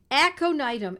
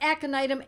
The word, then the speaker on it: Aconitum: These words, if they're new to you, they are spelled phonetically because they are Latin. Aconitum, A-C-O-N-I-T-U-M, aconitum, sometimes known as aconite, and I've written about it extensively.